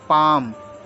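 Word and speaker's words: palm: ठीक अगला देखते हैं पी ए एल एम इसको बोलते हैं पाम पाम का मतलब होता थली पाम पी ए एम पाम यहां पर है आपका एल साइलेंट एल साले पल एम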